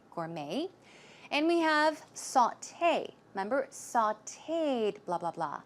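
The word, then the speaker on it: sauté: gourmet and we have saute remember sauteed blah blah blah it's a way of or preparing food and it's pronounced saute saute it's not saute its saute and recipe you may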